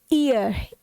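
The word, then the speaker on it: heir: एच ई आई आर पहले तो मैं आप सभी से जानना चाहूंगी कि आप इसमें भरेंगे क्या ए नहीं इसका प्रोनंसिएशन होता है ईयर ईयर उत्तराधिकारी उत्तराधिकारी ओके थोड़ा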